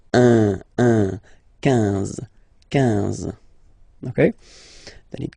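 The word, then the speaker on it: onze: 11, okay, so O plus N give you the sound on, 11, 11, okay? Final E doesn't exist phonetically, 11, okay?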